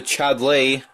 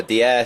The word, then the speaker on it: Dier: Down to Chadley. Oh my god, my pronunciation there. Dier, sorry.